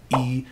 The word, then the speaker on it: 一: Lastly, when followed by any other tone other than the fourth tone, E is pronounced as the fourth tone itself.